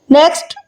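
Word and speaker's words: knock: Next, नॉक, Dastak. नॉक में के silent है।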